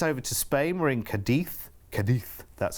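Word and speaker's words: Cádiz: We're in Cadiz.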